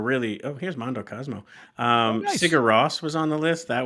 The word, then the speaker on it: Sigur Rós: Well, no one in America says their name right either. It's actually Sigur Rós. Sure. Is how you would say it in Icelandic.